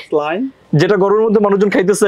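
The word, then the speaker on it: Céline: সি ই এল আই এন ই এটার কি স্লাইন যেটা গরমের মধ্যে মানুষজন খাইতেছে এখন স্লাইন ওর স্লাইন এটা কি ওর স্লাইন ব্র্যান্ডের এইটা হচ্ছে প্যারিসের প্যারিসের স্লাইন হ্যাঁ ওয়াও তাহলে এটা তো আমি উচ্চারণ করতাম কেলাইন কিন্তু কেলাইন হবে না এটা কি হবে ওয়াও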